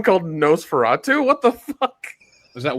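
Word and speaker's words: NOS4A2: Yeah, and NOS 4A2, pronounced Nosferatu, is the third novel by American author Joe Hill.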